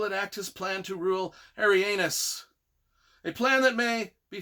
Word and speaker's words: Arianus: It's A-R-I, Ari, A-N-U-S, Arianus.